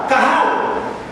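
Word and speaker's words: קהל: una palabra hebrea que significa eh que se pronuncia cajal cahal y es en la traducción en la se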